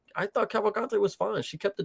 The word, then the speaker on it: Cavalcante: Cavalcante.